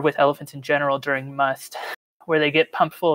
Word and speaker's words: musth: unique reproductive period called must and it's spelled m-u-s-t-h but in english we pronounce it just the same as we would write it without the h so m-u-s-t it's this